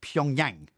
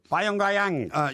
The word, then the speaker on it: Pyongyang: Well, you mistakenly pronounced Pyongyang. No, it's Pyongyang.